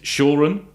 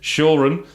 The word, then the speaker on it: Sauren: you can go through and visit and meet Sauren. That's how you pronounce it. Sauren, for those who aren't sure.